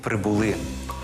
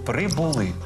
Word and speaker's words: прибули: прибули а занесли і прибули наголошувати треба останній склад занесли прибули до речі так само